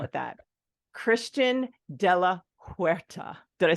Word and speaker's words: Christian de la Huerta: His name is, now I just learned this backstage, if we want to call it that, Christian de la Huerta.